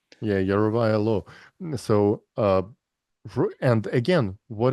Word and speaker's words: Yarovaya: Per their that And Yerovov law, right? How do you pronounce her name? yeah, Yarovaya law.